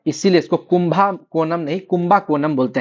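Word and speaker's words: Kumbakonam: और इसीलिए इसको कुंभा कोनम नहीं कुंभा कोनम बोलते हैं।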